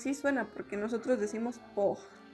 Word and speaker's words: porte: Pero algo muy importante es que el francés, cuando una palabra termina en E, por ejemplo, la palabra porte, que nosotros podríamos pronunciarla así en español, no se pronuncia la E. Bueno, más bien no suena como tal.